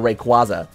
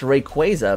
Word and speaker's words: Rayquaza: Ever since Pokemon Ruby, Sapphire, and Emerald, I had been calling that Pokemon Rayquaza. But it's technically pronounced Rayquaza because its name takes inspiration from the word quasar.